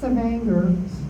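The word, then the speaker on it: Stavanger: We would go to Stavenger uh Sanganger. Thank you for pronouncing it right and Ellison and up in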